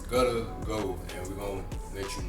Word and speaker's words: Guttaggo: How do you pronounce it? Again, Guttaggo, Guttaggai. It's Guttaggo, and we're gonna let you know a little bit about what exactly it is today.